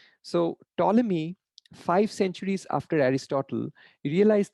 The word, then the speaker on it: Ptolemy: solved by ptolemy so ptolemy is spelled like this but it's pronounced as uh t-o-l-e-m-e-e that's that's kind of how you pronounce this name so ptolemy five centuries after aristotle